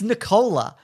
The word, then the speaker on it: Nicola: I've never heard anyone pronounce Nicola that way. It's Nicola. Is it? C-O-L-A. Oh. No, it's definitely not. Okay, then. But that's how it's spelled.